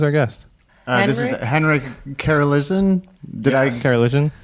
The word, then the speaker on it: Karoliszyn: we continue who's our guest this is henrik Cara listen did I scare illusion how early yes my mom can't even pronounce it that was good you say it yeah Wow that's soap yeah that's a